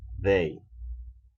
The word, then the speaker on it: they: La indicada verdad Pero la pronunciación tiene que ser como una d d d como que si estuvieran eh o fuesen a pronunciar la d de dedo pero con una entonación mucho más arraigada they Okay Qué significa